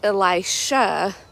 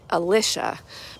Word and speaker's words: Elisha: when Elijah is told to go and make Elisha the next prophet. And I've heard some people pronounce that name Elisha, but I've also heard it pronounced Elisha.